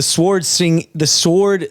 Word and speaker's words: sword: So all right, so the sword swinging, why is that so hard to say? Sword swinging tag. The W is silent, Ben.